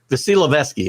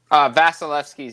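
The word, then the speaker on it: Vasilevskiy: Vasilevsky, how'd I do? Vasilevsky's his name, but you got close.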